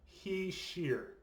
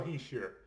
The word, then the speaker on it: Hischier: so nico he's here okay that's how you pronounce it apparently he sheer okay um because these names can be really difficult to pronounce so it's nico he sheer so he was the number one overall pick